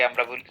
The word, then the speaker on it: a: হলো আমাদের তিনটা একটাকে আমরা একটু উচ্চারণটা ঠিক করে গেছে সারাজীবন আমরা বলছি আ সরি এ ওইটা আসলে এ না আর্টিকেল হিসেবে এটা উচ্চারণ নাম হচ্ছে আ কি আ আ